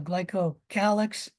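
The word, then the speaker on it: glycocalyx: of glyco Kix is it's also called the glyco calx both pronunciations are correct uh the capsule is a neatly organized glycocalix that has a lot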